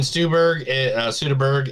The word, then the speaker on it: Soderbergh: Steven Soderbergh is working on a book about Jaws and teaching people how to direct. Spielberg and Soderbergh are just one of them.